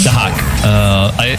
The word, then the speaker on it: Dahak: But Dayak able to How are you pronouncing the name? Dahak. Dahak. Okay. Yeah, that's how it's meant to be pronounced.